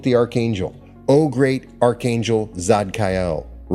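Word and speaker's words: Tzadkiel: Vibrate the name Zadkiel. Zadkiel. Now it's spelled T Z A D K I E L. In most cases, the T is silent. Zadkiel.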